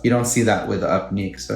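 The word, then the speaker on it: Upneeq: eye drop that they have now is called up nick upn eeq and that's the company that took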